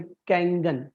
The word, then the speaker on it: Kangen: पानी का नाम है कैंगन। कैंगन एक जापानीज वर्ड है, KANGEN, कंगन, कैंगन का प्रोनाउंसिएशन है।